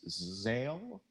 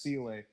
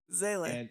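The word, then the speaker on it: Seele: I had with the dub was how they pronounce Zale. Zele? Like you get Zale. I was like, stop it! You stop it right now. It's pronounced Sele. Zele.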